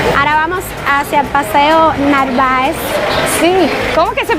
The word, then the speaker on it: Narváez: Ahora vamos hacia el Paseo Narváez. Sí, ¿cómo que se pronuncia? Es que no sé. Narváez.